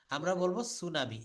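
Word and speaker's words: tsunami: কম beta বলবো না যেমন সুনামি সুনামি লিখতে গেলে কিন্তু আমরা বলি টি সুনামি এটাকে আমাদের লিখতে হয় টি সুনামি কিন্তু এটা আমরা বলতে পারবো না আমরা বলব সুনামি এস ইউ এন এ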